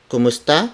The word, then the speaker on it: kamusta: tah como esta kha kamusta is spelled as ke u M u s T a kamusta is adapted from the Spanish phrase como esta which means how are you so kamusta the second